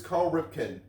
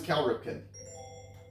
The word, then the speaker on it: Cal Ripken: who is Carl Ripken? Who is Cal Ripken? Oh, must have mispronounced the That's first it.